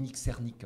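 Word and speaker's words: Srnicek: nicknek et Alex Williams on dit nxernque en fait ça s'écrit s r n I c K c'est ces nom polonais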